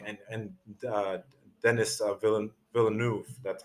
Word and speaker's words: Villeneuve: adapting the book and uh dennis uh villain villeneuve that's how i pronounced his name the director he really wanted